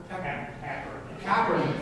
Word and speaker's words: Kaepernick: Colin Kaepernick, thank you.